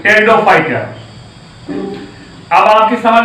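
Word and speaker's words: Pteridophyte: पी से spelling शुरू होगी, PTERO, टेरिडोफाइट।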